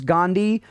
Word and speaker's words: Gandhi: Gandhi has a silent H in it.